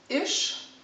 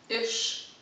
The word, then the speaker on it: iš: you will get this iš kur tu the first word the is s h like shop iš kur the rolling are